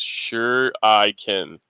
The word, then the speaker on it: shuriken: shh anonymous american says shuriken ish is pronounced sure i can sure yeah okay good